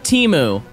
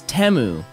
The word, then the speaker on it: Temu: obviously but two that it's not pronounced Teemu cuz I thought it was Teemu forever but it's temu teu t I still